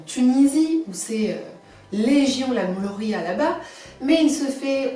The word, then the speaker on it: mloukhia: Ça s'écrit mloukia, mais ça se dit mlochia. Un petit peu comme si on crachait, mlochia.